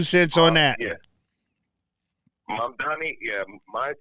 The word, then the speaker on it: Mamdani: we're going to be there for a while, Mondani. Did I say his name right? Go. What? You got to give me your 2 cents. You got to give me your 2 cents on that. Yeah. Mamdani, my 2 cents is this.